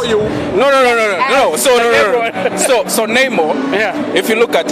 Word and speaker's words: Namor: So Namor.